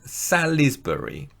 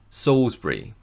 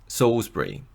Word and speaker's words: Salisbury: For example, Ssbury looks like it should be pronounced Salisbury, but it's actually pronounced Ssbury. Ssbury.